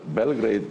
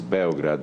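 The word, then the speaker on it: Beograd: Well, Belgrade is a wrong translation like you know uh or pronunciation of the name. The name of the city is Bograd meaning white city.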